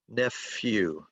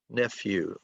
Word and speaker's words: nephew: My sister's son is my sister's son is my nephew. I know English is crazy, but this PH is pronounced like f, nephew, nephew.